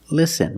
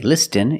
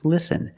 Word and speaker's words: listen: With this spelling pattern, you can see the T is silent. Listen. We don't say listen, it's listen.